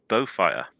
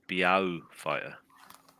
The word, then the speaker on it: Beaufighter: I am pronouncing that right, aren't I? You are. Because you could pronounce it Beaufighter. A fighter with a smelly problem.